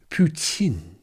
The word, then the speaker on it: poutine: Why would we rename poutine, or as the French inventors might pronounce it, poutine?